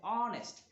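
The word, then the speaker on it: honest: এখানে অনেস্ট শব্দটায় এইচ এর উচ্চারণ হয় না, এখানে হয়েছে উচ্চারণটা এমন হয়েছে অনেস্ট।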